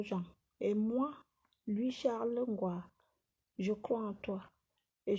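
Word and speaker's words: Nkoa: Ngwa s'écrit N-K-O-A. C'est Ngwa.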